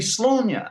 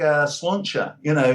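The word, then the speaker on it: Sláine: should, of course, be Slaughter, because I put that accent over the A. So, of course, it's like Slaughter, cheers kind of thing.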